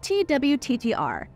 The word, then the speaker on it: Twttr: was founded in 2006 it was just twttr it was still pronounced the same way we do today though the idea for